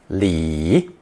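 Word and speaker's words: 里: with the plot of land the residents cultivated pronounce thurton Lee Lee in ancient times one Lee consisted of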